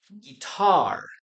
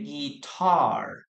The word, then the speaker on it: guitar: Remember, guys, the pronunciation of this word is guitar. Okay, so we have two syllables. This is a normal syllable, and this is the stressed syllable. Okay, guitar, guitar, guitar.